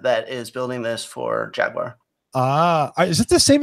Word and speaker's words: Jaguar: English car company it's Jaguar and have been pronouncing it properly yeah it's jag you are please so this is